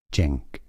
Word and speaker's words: Cenk: Turkish pronunciation: Cenk. Cenk. Cenk. Here are more videos. Or maybe it's like a CH and J together. Cenk. Cenk. Instead of chunk.